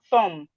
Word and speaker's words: thumb: We have thumb, the B here is silent.